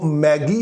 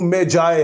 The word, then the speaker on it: magi: Spelling होते हैं MAGI, और इस लफ्ज की जो ब्रिटिश प्रोनाउंसिएशन है वो मैगी है, और जो अमेरिकन इसकी प्रोनाउंसिएशन है वो मेजाए है।